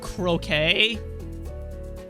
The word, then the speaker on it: croquette: It's pronounced croquet. Sounds stupid. Is it French?